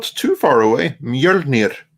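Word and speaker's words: Mjölnir: Mjolnir. Mjolnir. There we go. Yeah. Rolling the R is the most important thing there.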